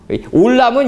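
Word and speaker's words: עולם: 올람은 이거고, 이게 똑같은 거예요, 이제. 올람은 요거고, 요 발음 기호가 위에 있어가지고 오 발음 난 거고, 알람은 밑에 있어가지고 아 발음 난 거예요, 이게.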